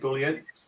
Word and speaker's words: Bülent: So, Boolean, I'm saying it right, Boolean? Yeah. It's good, all good.